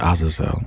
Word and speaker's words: Azazel: to concentrate and use I say it like how she says it, Azazel.